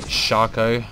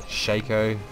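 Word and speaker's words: Shaco: Now, I do say Shako and not Shico. Don't pronounce it Sho.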